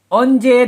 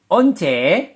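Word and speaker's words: 언제: Jadi kalau kita ikutin tips yang pertama, onje dan once, mana lebih mudah pelafalannya? Onje atau once? Ya pasti onje. Onje yang paling mudah dilafalkan. Onje. Yang pasti yang mudah pelafalannya adalah onje.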